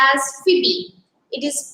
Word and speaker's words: Phoebe: her name is phoebe carring her name is pronounced as phoebe it is p-h-o-e-b-e it's pronounced as phoebe carrie she's an american